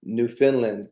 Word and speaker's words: Newfoundland: Krista from Newfoundland, Canada.